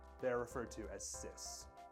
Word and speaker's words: cis: are referred to as sis sis spelled CIS is a technical term